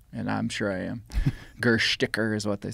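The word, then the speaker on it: Gerstäcker: that was published in 1854, written by Friedrich Gerstacker. Some people, the Germans will say that I'm pronouncing it wrong, and I'm sure I am. Gersticker is what they say.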